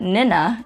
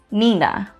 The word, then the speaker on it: nina: E sounds like the double E sound in ni. E. For example, the Chamorro word for godmother is Nina. So you wouldn't pronounce that Nina, it's Nina. Ke makes the same sound as the C in coffee.